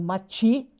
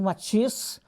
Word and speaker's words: Matisse: Normalmente ele é pronunciado Mati, e uns pronunciam Matisse, as duas pronúncias francesas, né?